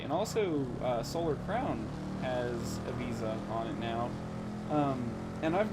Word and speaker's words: Ibiza: So right now, So right now we are on the island of Ibiza, or Ibiza if you want to be annoying. I know that's how people actually pronounce it from there, but I get annoyed sometimes.